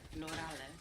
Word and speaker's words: plurale: And the U is like ooh. Plurale.